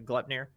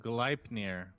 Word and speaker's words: Gleipnir: So you can go for like a Glepnir.